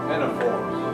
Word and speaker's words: Ctenophora: These belong to a different phylum called Ctenophora. I'll spell it. And yet, the Ctenophora begins with the letter C, even though we don't pronounce the C. Ctenophores.